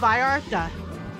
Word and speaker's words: Vallarta: other store is called by Arthur I don't know how to roll my tongue so it sounds funny when I say it but it's spelled vallarta